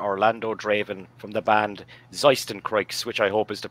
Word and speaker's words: Zeistencroix: name is mr orlando draven from the band zeisten creeks which i hope is the pronunciation that is correct yeah it's perfect thank